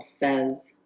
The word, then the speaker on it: Sez: let's play with a tangle called Says, or it might be pronounced Sees, but I think it Says, S-E-Z.